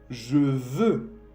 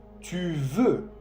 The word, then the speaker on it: veux: Je veux. Je veux con un X. Je veux. Tu veux. Lo mismo. Tu veux con un X que no se pronuncia.